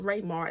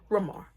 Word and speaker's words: Ramar: It's not pronounced Raymar, it's pronounced Ramar.